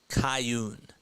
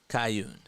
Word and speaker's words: Kuhn: Pronounced Cayun. Cayun. Okay. I was literally going to ask like what your thoughts were about him. It's funny. No, Kuhn.